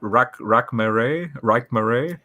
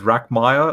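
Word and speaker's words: Rekhmire: But I've been, I trust me, when you said, what, Rakmere, and Rakmere. Yeah, versus Rackmeyer. Like I would have said Rackmeyer.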